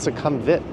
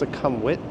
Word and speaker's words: Sukhumvit: I mean, if you really want to be anal about Thai pronunciation, it's not succumbit like every YouTuber says, right? It's succumwit.